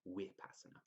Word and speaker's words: Vipassana: core disciplines in buddhist meditation the other is upasana which is spelled vipassana but pronounced with passana i've researched both these techniques for a long